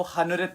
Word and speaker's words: हनुरित: Actually guys ये रामनवमी के दिन पैदा हुआ था, हमारी किस्मत को लेकर के, तो इसका जो ऑन पेपर्स नाम होगा वो हनुरित है, एच साइलेंट है।